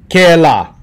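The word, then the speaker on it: kēlā: All right, and now we have the last one, ke la. The la stands for fa. Ho, la for la, rhymes with fa, ho, the baga stay fa.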